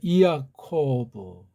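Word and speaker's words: Ἰακώβ: 자, 오늘 이 발음도 이아라고 읽어야 돼요. 왜냐면 이게 이중 모음이 아니고 이렇게 따로 분리됐거든요. 이아코브.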